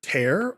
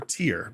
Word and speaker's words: tear: is a fun one it's either tear or tear because they're both spelled the same way like it's tear because that's the verb yeah so it's tear all right all right